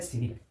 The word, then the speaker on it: cynic: एक है सिनिक, क्या है भाई, सिनिक है, इसका प्रोनाउंसिएशन साइनिक नहीं बोलिएगा, सिनिक, क्या है भाई, सिनिक है, CYNIC, सिनिक है।